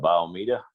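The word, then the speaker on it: Bayou Meto: that area and uh biomedia that's how you pronounce it don't look that way but uh anybody from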